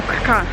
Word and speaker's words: Krka: jesteśmy w parku narodowym rzeki Krka albo kka Wydaje mi się że Krka bo tak wymawiają to osoby tu mieszkające ale nasza pani przewodnik